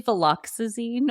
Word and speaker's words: viloxazine: Viloxazine or Qelbree? Woo, that's a mouth. It's actually viloxazine or Qelbree, but I also have trouble pronouncing it, so I think this may be genetic.